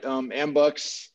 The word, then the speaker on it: Ambucs: the other stuff later, but tell us about Ambucs. Unless I'm pronouncing that wrong, because I've only seen it spelled. No, you said it right. Ambucs, it's a nationwide organization, started in the 20s.